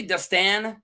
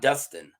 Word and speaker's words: Dunstan: Dunstan, do you guys say Dunstan? Dunstan Drumm? Dunstan, not Dustin, right? You got to pronounce that.